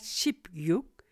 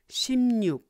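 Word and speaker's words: 십육: sibil 12 cb 13 ship sam 14 ships are 15 shibo shimnu watch the pronunciation not ship yuk shimnuk and seventeen ship chili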